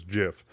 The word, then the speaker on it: GIF: I believe the uh the developer for that came out and said that it was um it was Jiff but um it's not